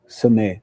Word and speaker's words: Cenee: Cenee, not Renee.